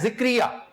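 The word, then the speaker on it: زکریا: पैगंबर का नाम है, और जे के ऊपर जबर है, चुनांचे इसको जक्रिया पढ़े। मैंने एक इजिप्शियन को प्रोनाउंस करते सुना है, वो हमेशा जक्रिया कहता है, जक्रिया। और इंग्लिश में भी, क्योंकि बिब्लिकल नेम्स भी बड़े मिलते जुलते होते हैं, वो जक्रिया कहते हैं, जिक्रिया नहीं कहते, जक्रिया।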